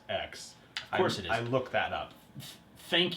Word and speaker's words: Mate X: made way better the mate X yeah not 10. it's actually pronounced X I look that up